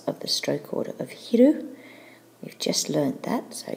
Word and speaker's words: 昼: of the day and that's midday pronounced in Japanese hiru and finally we can